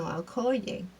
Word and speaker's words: Okoye: No, Okoye. Yes. Um, they track her down and unfortunately are met with Neymar's tribe and are overpowered. And they are kidnapped. And Okoye, unfortunately, is stripped of her duty as general.